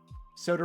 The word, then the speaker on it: Soter: Soter rhymes with voter.